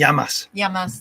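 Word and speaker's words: γειά μας: how do you say cheers in Greek y yamas yamas Health to us it's a very aromatic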